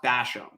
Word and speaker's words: Bassham: Today we have Lanny Bassham, or I think it's pronounced Bassham, Yes.